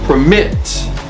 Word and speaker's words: permit: right prefer perfect okay permit uh the stress is not on per it's on M so permit permit permitted okay stress on second syllable so permit so it's